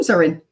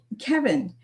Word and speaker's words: Cevin: Um so a lot of people aren't familiar with the hard C there, but uh but again,